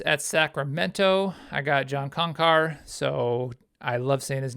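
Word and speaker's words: Konchar: Sacramento I got John concar so I love Santa's name some people say conchar kankar I I like to say it like a conquistador I'm taking him um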